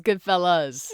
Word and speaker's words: Goodfellas: So it's Goodfellas. Goodfellas, Is it us? yeah. Okay. Like, you guys sound cooler than that. Like, Goodfellas. are you Italian? Yeah. Goodfellas.